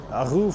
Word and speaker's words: Arreau: And now we drove another 6 hours today, and we're in Arreau, they pronounce it, Arreau, France.